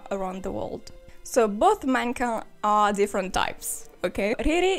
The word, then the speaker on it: mannequin: But mannequin is a French word, okay. So I'm going to pronounce it the right way, mannequin.